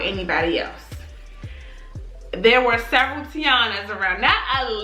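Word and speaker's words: Tionna: common top 50 even my name Tiana it's spelled t-i-o-n-n-a it's not right like t-i-a-n-a so people mispronounce my name all the time even Siri she calls me shayana that's how she pronounces my name so I was feeling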